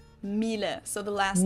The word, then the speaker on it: Miele: And it's not exactly pronounced wrong in English, but English native speakers usually say something like Miele. So it usually sounds more like an A in the end, whereas in German we say Miele. Miele.